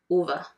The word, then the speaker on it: Ove: also and learned that it's pronounced a man called OVA like Hoover but not OVA that's what he told